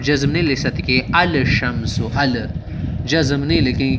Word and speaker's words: الشمس: مدغم ہو جاتا ہے، یعنی تلفظ کے وقت لام کی بجائے حرف شمسی کا تلفظ ہوتا ہے.